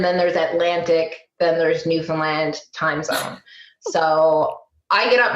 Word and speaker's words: Newfoundland: island called Newfoundland and and anyone who wants to say Newfoundland right now I can guarantee you're probably not saying it right you can rewind and try again Newfoundland but we have our